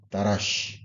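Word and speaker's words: דרש: 설치라고 돼 있는데 자 원어로는 라시라 발음이 됩니다 자 뭐라고 발음이 된다고요 다라쉬 근데이 다라시 아는 연구하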